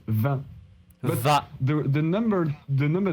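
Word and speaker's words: vin: wine like wine it's van like in French wine it's pronounced van ha the number the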